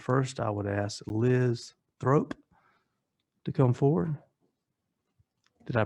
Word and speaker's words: Throop: Troop. Okay. Throop. Actually, Yeah. I'm gonna ask for grace. It was spelled differently than that. It's THROOP, Throop. Okay. It is spelled that way. It doesn't sound like troop.